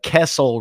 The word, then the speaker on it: Kessel: Do you know how many suckle runs that is?